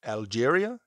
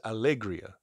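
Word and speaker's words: Alegría: This is from Algeria. Is that how you say it? Yeah, Allegria? No, that's Algeria would be Alge. This is Allegria.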